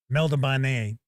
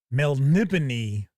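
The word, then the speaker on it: Melniboné: so this is Elrich and for decades I pronounced it Melabanet and I realized maybe it was about two years ago I was listening to an audio book and it's Melnipony.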